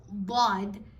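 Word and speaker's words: ض: the makhraj of dal, but it's not dal. It is Vlad. Vlad has a stronger makhraj than the letter dal, so make sure you work on it.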